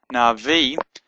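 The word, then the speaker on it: נביא: sound na V and the ALF is silent but it kind of lengthens the the e sound so just makes it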